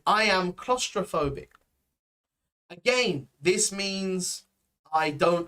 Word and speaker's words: claustrophobic: um claustrophobic i am claustrophobic right pronunciation wise pronunciation wise here is very important claustrophobic right um we don't say klaus um it's usually clos so more of an o sound claustra then in the